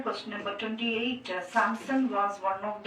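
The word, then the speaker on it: Samson: ने दिया था hallelujah in English it will pronounce सैमसन एस आ एम एस ओ एन सैमसन सैमसन वास वन ऑफ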